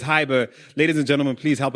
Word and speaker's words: Hybr: And it's spelled like Silicon Valley style. That's Hybr. So don't go googling for Hiber with an E, you know. Don't go putting the E when there's no E. It's Hiber.